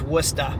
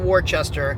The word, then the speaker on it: Worcester: If you're not from New England, I guarantee you pronounce it wrong. Okay, I'll just tell you. It's Worcester, not Worcester. It's Worcester. Welcome to Worcester.